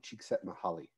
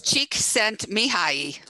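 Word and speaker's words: Csíkszentmihályi: It's Csikszentmihalyi. Very good. Very good. Csik is an area, scent is saint, and Mihai is Michael. So I did not know that.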